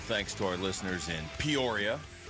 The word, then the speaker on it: Peoria: Rhymes with euphoria. Okay, Peoria, just calm down.